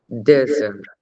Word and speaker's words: desert: A sílaba tônica da palavra vai ser o desert. Vai A ser, foto. yes, na primeira sílaba, yes. Desert. E a pronúncia dessa vogal é aberta.